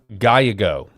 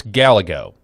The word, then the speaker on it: Gallego: Paul, it's pronounced Gallego. I don't care. It's Gallego, okay?